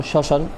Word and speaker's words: শ্মশান: উচ্চারণ করা হয় না যেমন শ্মশান শ্মশানের ক্ষেত্রে তাহলে এর সাথে মরে যুক্ত আছে ব্যঞ্জনের সাথে কিন্তু যখন উচ্চারণ করা হলো তখন কিন্তু ম এর কোন উচ্চারণ আসেনি শুধুমাত্র তালের বেশি উচ্চারণটা